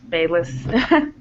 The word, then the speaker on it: Bayless: Is it Bayless? Yeah, that's Bayless. Okay, yes, I want to make sure I'm saying it right.